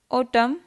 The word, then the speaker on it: autumn: chalk half fork silent and autumn column government silent p cupboard pneumonia raspberry silent